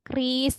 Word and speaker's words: QRIS: E-wallet yang bisa pakai kris itu ya. QRIS, tapi kita sekarang nyebutnya yang benar adalah kris ya. Menurut dari BI, bacanya kris yang kita di scan itu.